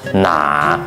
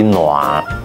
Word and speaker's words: 乸: 啊，是一个半包尾结构，普通会叫做拿，咱潮汕话读作咩个拿，啊，拢